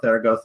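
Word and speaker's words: Zaragoza: capital of aragon and theragota right that's right close to the town of theragosa and you gotta say it like that uh a little place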